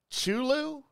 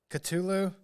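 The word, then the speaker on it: Cthulhu: is a creature called chulu CH chulu culu there you go I knew I couldn't pronounce it right culu because it's CT hu lhu yeah so you do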